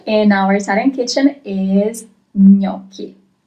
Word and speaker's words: gnocchi: our Italian kitchen is gnocchi. Gnocchi. That's the way you pronounce it. Gnocchi. Also, you have CH. Remember that CH is always read as K. It's never ch in Italian, but always K.